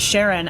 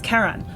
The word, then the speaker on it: Charon: so like I guess the community pronounces it Sharon after Charlene but it's officially named